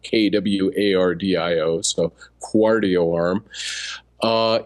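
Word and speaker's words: Qardio: But, uh, one uh, new device is out from a company called uh, Quardio Arm. It should be cardio, but uh, I noticed they were pronouncing it kw a r dio.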